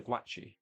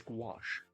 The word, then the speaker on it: gouache: The guachi?